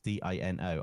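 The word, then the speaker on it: Deano: first name Dino but I won't spell it like Dino like Flintstones d i n o I'll spell it d e a n o but it's Dino Dino claw it's got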